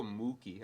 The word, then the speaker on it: Mookie: I go Mookie. I put like an emphasis in the moo.